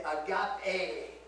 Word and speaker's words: agape: And that is always pronounced eta. Now they usually don't say the tough part. And so you would say agape. A. And that's why we put the line over the E to remember that it's a long vowel sign.